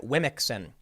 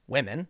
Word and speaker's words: Womxn: organization used the word Wimixin. Okay, you heard me right. Wimixin. WOMXN. It's supposed to be pronounced women, I guess.